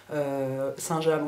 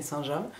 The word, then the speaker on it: Saint-James: côté du monts-michel donc on dit pas Saint-James mais saint-jam et donc saint-jam c'est